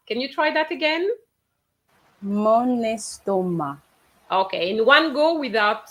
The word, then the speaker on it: estomac: estomac. Paris? Mon estomac. Okay, yes. Rihanna, you pronounce the C. In fact, there's no C pronounced for my stomach. It's mon estomac.